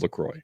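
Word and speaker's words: LaCroix: way key lime is the best flavor of lroy so of um what a lot of um it's pronounced lro um with a lot of those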